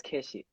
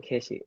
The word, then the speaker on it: keshi: like middle school and they would uh pronounce my name as keshi um keshi so that's just where